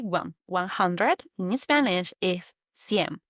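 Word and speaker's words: cien: And finally, the big one 100 in Spanish is senm. Think of the word century. A century is 100 years. So when you hear sen, you can link to the word century. 100 sen.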